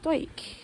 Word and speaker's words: Dawyck: saying that the name of the garden as pronounced dke I like that's why she was saying that